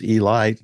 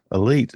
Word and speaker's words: Elite: part Giants and with an unusual pronunciation of elit T is Elite not Elite Giants you know all those